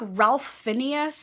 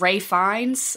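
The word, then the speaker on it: Ralph Fiennes: always I used to call him like Ralph Phineas and then I think it was who were like you dumb that is not but obviously that's just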